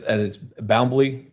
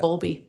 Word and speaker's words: Bowlby: Okay, and it's Boundley. I'm mispronouncing that. Bowlby.